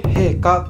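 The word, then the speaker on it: 瓶花: に行けるお花カ瓶の瓶に花と書いて陛下と呼ばれるまそんな種類の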